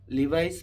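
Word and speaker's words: Levi's: আজকে আমরা লিভাইস pant যেটাকে অনেকে লেভিস টেবিস বিভিন্ন রকমের ডং ডটং করে অনেক উচ্চারণ করেন। মনে করেন যে লিভাইস ঠিক আছে? বাংলাদেশে সবাই লিভাইস বলে।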